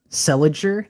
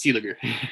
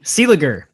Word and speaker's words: Seeliger: I got to ask, speaking of freshmen, Bjorn Seliger, did I say his name right? think it's Seeliger. Seeliger. So no, I didn't.